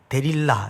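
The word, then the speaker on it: 들릴라: 그런데 에 들릴 나는 또 원래 데릴라 이렇게 발음을 하기도 하는데 어둠이란 뜻입니다 자 그럼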